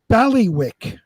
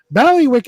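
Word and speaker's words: bailiwick: in my belly wick valley wick is spelled b a i l i w i c k it took three quarters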